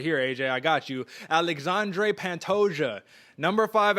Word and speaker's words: Alexandre Pantoja: i mean i'm gonna show you how to pronounce it right here aj i got you alexandre pantosia number five alexandre pantoja facing off against mannell cape at flyweight and